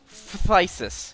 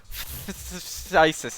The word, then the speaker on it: phthisis: Well, the magic card is named after the actual disease, phthisis. Except I believe the ph is silent.